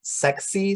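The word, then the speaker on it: SACSE: at um angelique blackburn's sexy survey i don't know if you if you've heard of this one it's it's spelled s-a-c-s-e um this is all about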